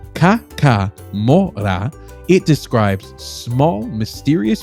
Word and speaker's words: Kakamora: and keeps us bringing more content your way pronounced Ka MOA it describes describes small mysterious beings that move